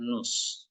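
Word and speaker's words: νοῦς: kan akatifnya ya datifnya Jadi kalau jadi nominatif Nus bacanya Nus Nus kristos ya Nun Kristus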